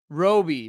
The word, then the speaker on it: Roby: Robbie DeBell says, Roby rhymes with Toby.